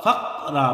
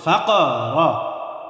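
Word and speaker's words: الفقر: এরপর দেখেন আশ-শাইতানু ইয়াইদুকুমুল ফাকরা, ফাকরা বললে সঠিক উচ্চারণ হবে না। সঠিক উচ্চারণ কিভাবে করতে হবে? প্রতিধ্বনি আওয়াজ দিয়ে পড়তে হবে। ফাকরা, ফা কফ জবর ফাক, র জবর র, ফাকরা।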